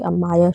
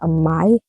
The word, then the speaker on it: Amaya: She, instead of when you say Amaya, she'll say Amai. And so she says her name is Amai, not Amaya.